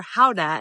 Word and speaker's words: Gouda: G is for Gouda, or Gouda as it's actually pronounced.